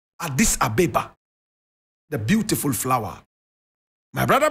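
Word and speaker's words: Addis Ababa: born in Adis Abba you would call it Adis Ababa correct pronunciation ad this ABA the beautiful flower my brother my sister he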